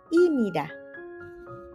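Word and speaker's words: 입니다: IBN Nah itu tulisannya bacanya bukan Nida tetapi bacanya imida kenapa Loh kenapa sem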